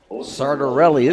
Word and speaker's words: Sartorelli: Sartorelli is the pronunciation, according to Mr. Rickle.